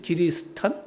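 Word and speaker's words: キリシタン: 일본 사람들이 우리나라 점명 점령했을 때도 정말 혹독하게 우리를 다뤘다 그러는데 이때이 크리스천 일본 사람들 발음으로 이제 기리 기리스탄 그러죠?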